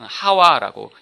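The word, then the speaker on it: חוה: 근데 원래 원어가 하와라고 읽습니다.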